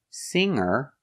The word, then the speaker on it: singer: sing in the shower if I change the verb with eer singer I'm changing a verb with eer I don't pronounce the G sound so you hear singer from the sound to